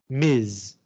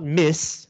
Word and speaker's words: Ms.: And you pronounce this Ms. Not Miss, which is single, Ms.